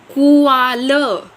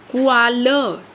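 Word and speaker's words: Qual: कुआल। कुआल। ये इसकी प्रोनाउंसिएशन होगी।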